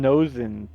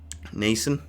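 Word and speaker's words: Noesen: Stephon Nosen, 21st overall. Nason. Nason, that's how you say it.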